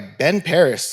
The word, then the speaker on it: Ben Parris: I'm Paul Delos Santos, joined today by Ben Parris.